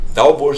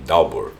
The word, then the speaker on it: Dowbor: Dalbor se escreve D-O-W-B-O-R, Dalbor.